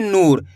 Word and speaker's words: नूर: यहां पे छोटू उ की मात्रा लगी हुई है तो तेजी के साथ उच्चारण निकल रहा है नूर। यहां पे बड़ी ऊ की मात्रा है तो खींच के पढ़ेंगे नूर।